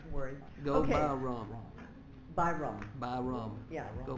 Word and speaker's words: Byrom: It's Byrom, B-Y-R-O-M. Most people mispronounce it, and they say, like, Miss Baroom. I said, no, that's how you start your car.